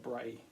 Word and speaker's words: Brea: Okay, and remember we're writing about Skara Brea. Now Brea has a Y kind of sound on the end, so you need to think of rhyming words that rhyme with this word.